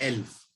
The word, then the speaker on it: elf: 11 को बोलते हैं एल्फ। इसकी स्पेलिंग है ELF, एल्फ।